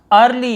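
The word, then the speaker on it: early: फिर देखिए अर्ली, यहाँ पर भी अ उच्चारण, अर्ली, जल्दी।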